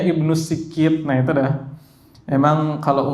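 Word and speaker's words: ابن السكيت: Pertama kali lihat tulisan itu saya bacanya Ibnu Sakit, ya Allah. Ibnu Sakit, ternyata bacanya Ibnu Sikit.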